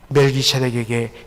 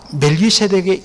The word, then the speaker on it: 멜기세덱: 그리고 제데크, 우리 발음이 정확하지 않아서 세덱이라 이렇게 이야기하는데 원래는 제데크입니다.